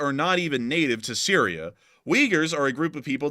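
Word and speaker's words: Uyghurs: may know is that the Wagers which is how this is pronounced I know a lot of people are like what that's actually how they're pronounced uh but the Wagers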